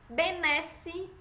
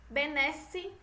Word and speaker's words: benesse: que provocam dúvida É ué aberto de é como se fosse acentuado benesse Pedro retro flagelo servo Sérgio benesse petrocenter o flagelo serval certo e o é fechado